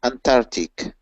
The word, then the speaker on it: Antarctic: okay don't don't say Antarctic do say antar Antarctic mhm comment just things on an arc of ants and that should help you keep the C in the pronunciation of this word yep so ant Arctic